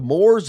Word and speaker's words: Moos: Is it the Moors or the Moops? There are no Moops. It's Moors, you moron.